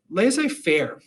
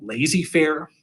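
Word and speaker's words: laissez-faire: them right here so laissez faire or letting owners of industry and business set the working conditions without interference i often mispronounce this by just calling it lazy fair lazy kind of referring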